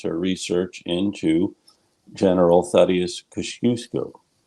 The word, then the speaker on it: Kościuszko: But we're here to talk to her about another project, that is her research into General Tadeusz Kościuszko. Kociuszko. There are many different pronunciations of the general's name, and we will hear more about him now from Kiersten Marcil.